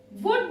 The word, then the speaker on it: would: Would, would not. Wouldn't. You have to practice the pronunciation. Shouldn't, wouldn't. Should, would. Would. It is like wood.